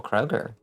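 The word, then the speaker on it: Kroeger: um reference entirely oh his last name is pronounced Kroger I had no idea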